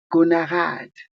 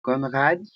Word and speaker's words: Konrad: Comme vous le voyez aperçu de la bourse connard hein connard conarade. Sorry moi j'ai prononcé ça conarade. OK Conrade. Ça c'est la perc de la boxe.